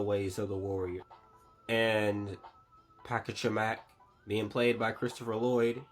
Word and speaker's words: Pachacamac: It plays with the lore a little bit, as we also see Chief Pachacamac. That's how it's pronounced.